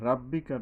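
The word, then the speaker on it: رَبِّكَ: ইসতেলার অক্ষর এটি লি রব্বিকা রাব্বিকা নয় রব্বিকা ওহার এই ওয়া মানে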